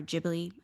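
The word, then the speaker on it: Ghibli: reminds me of all the studio gibl movies or jibbly either way you want to say it right they have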